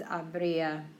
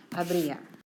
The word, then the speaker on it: habría: it's conditional tense, it's habría. There would be. There's no yo form. There's no to form. No nosotros. It's H-A-B-R, accent on the I-A. Habría. Okay, hacer, haría.